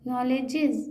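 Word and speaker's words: knowledge: days क्या पढ़ रहे के को साइ को नहीं पढ़ना है साइलेंट हैन नो वे नो नो नो वे वे है ले है ए को ले बोलेंगे नो ले हां जस हां नॉलेजेस नॉलेज नॉलेज नॉलेज नॉलेज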